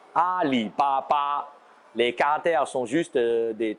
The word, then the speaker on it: Alibaba: de vous a pour ali baba ça se prononce exactement pareil en chinois à lille papa les caractères sont juste